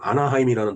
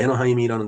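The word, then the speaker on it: Anaheim: 근데 영어로이 아이이 아이를 갖다가 영어 발음을 A라고 하지만 독일어는 그걸 I로 발음합니다. I 그러니까 에너하임이라는 데가 A N H E I에요. 그 에너하임. 그러니까 이게 독일 발음이다.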